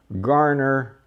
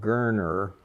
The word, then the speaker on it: Garner: property owned by the garner is the way we pronounced it back then later the family preferred a pronunciation called gerner but i'm thinking back